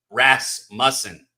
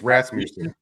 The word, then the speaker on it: Rasmussen: But then Russman on the other side, or Rasmussen. How do you say his fucking name? I think it's Rasmussen.